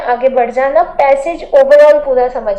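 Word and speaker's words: précis: आप लोग बस ये समझो कि प्रेसी राइटिंग का लास्ट वाला जो एस है ये साइलेंट है, प्रेसाइज नहीं बोलना, प्रेसिस नहीं बोलना, प्रेसी आई पे रुक जाना, ठीक।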